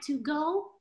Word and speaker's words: Togo: togo togo very good it looks like to go but it's pronounced togo okay so the languages